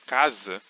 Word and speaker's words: casa: acontece também no português na palavra casa por exemplo apesar de se inscrever um s a gente pronuncia um z casa e na expressão Mais